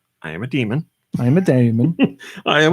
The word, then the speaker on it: Daemon: came out this week Damon or demon because every time I say it somebody tells me I'm saying it wrong I think it's demon even though it's spelled Damon dime ex machina or